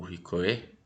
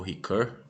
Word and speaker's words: Ricoeur: Nós vamos entrar em mais dois filósofos diferentes aqui, que é o Paul Ricoeur, não, Paul Ricoeur, né, a pronúncia correta, e o Michel Foucault, ok?